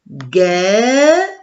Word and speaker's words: guêpe: Une guêpe. Et je dis une guêpe. Elle est formée de 2 syllabes.